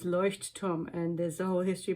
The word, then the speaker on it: Leuchtturm: Let's do a pronunciation check. Light tower in German is Leuchtturm, and there's a whole history behind why it's 1917 and why they're called that.